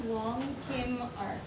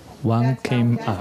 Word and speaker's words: Wong Kim Ark: I just didn't want to say it because I was going to mispronounce it. What's the name? You say it. His name was Wong Kim Ark. Wong Kim Ark.